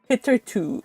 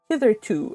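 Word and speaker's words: hitherto: butterfly says hitter though hitter to oh hitter to okay hither to okay hither to so Accent on the first one hit K to okay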